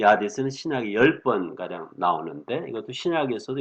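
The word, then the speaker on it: ᾅδης: 이것을 아디스, 제가 현대 그리스 말로 발음을 해봤어요. 일반 신학교에서는 하데스 이렇게 발음하는데 아디스, 이 영어로는 헤이디스 이렇게 그리스 말에서 그냥 음역을 해왔습니다.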